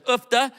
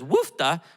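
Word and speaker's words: uff da: house has due to two different pronunciations she says ufta when something's wrong broken needs to be fixed but then she says wufta when she's cold so this is a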